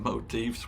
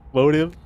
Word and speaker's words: motif: when I discovered what motifs were. I feel better. Am I pronouncing it correctly? Motive. Motif. Motif. No, it's a I'm pretty sure it's a motif.